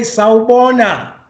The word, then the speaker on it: Sawubona: We say Sawubona.